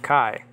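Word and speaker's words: καί: i just mentioned that kai is pronounced que in uh biblical uh greek then the word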